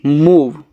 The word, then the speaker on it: move: MOVE मूव, मूव। इस last वाले का उच्चारण नहीं होगा।